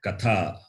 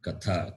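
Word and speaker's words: कथा: And in the word Katha, right? Katha, Katham, how? So, Tha, Mahaprana. It is Mahaprana and dental.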